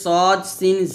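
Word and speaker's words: ص: একটা শেষ বের করবেন সদ তারপরে জা সিন এভাবে উচ্চারণটা করতে হবে এখানে সদ মোটা হরফ আর সিন হচ্ছে পাতলা হরফ তাহলে সদ মোটা করে উচ্চারণ করতে হবে শীষ দিয়ে আর সিনটা পাতলা করে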